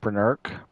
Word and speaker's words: Brennurk: I pronounce it Brennurk. Bryn as in Brenda and Irk as in irksome.